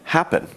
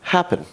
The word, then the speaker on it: happen: In two-syllable verbs, such as occur and happen, we have to be focused on where the stress in the verb comes. Here, we've got occur. The stress is on the end of the word.